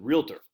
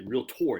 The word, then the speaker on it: realtor: now but anyway yeah real tour Bangor I just always said realtor but they say real tour you got to put the emphasis on the or home builders say terrace